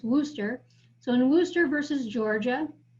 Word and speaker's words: Worcester: the missionary refuses so i know it looks like worchester but we pronounce this wooster so in worcester versus